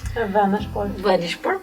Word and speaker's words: Vänersborg: In realtà soltanto alcuni di loro, poi loro sono di Göteborg o vicino a Göteborg, or city or specifically Vänersborg, che è la pronuncia mia svedese.